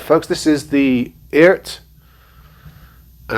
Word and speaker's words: Eart: folks this is the eart and i think you actually pronounce it ert just like earth without the ph w2 so this is